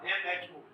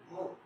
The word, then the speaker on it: mho: 1/ohm, ohm inverse, ये इसको ऐसे लिखते हैं बेटा, MHO, mho, प्रोनाउंसिएट करते हैं mho, ये साइलेंट है, और साइन में, ठीक है।